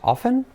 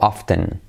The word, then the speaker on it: often: Often se escribe con T, often, y se puede decir, curiosamente, puedes decir las dos, often o often.